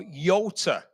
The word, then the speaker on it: Jota: And it was the Laverda Jota, this is the 1970s. Or Yota, as we're being encouraged to pronounce it.